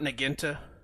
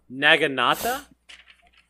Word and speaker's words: naginata: It's not Nagenta. I'm just looking at my notes and I saw it again, and I didn't know how to spell it, and I spelled it exactly like how you would pronounce Nagenta. Naginata? Naginata? That's got to be it. That's so much more Japanese.